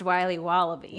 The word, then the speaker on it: Wiley Wallaby: will be wobble beats pronounced wiley wallaby well it's very good it's called wiley wallaby and it's delicious there's